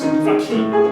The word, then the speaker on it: fakir: Consider now the figure of India, or as the Hindu would pronounce, Fakir.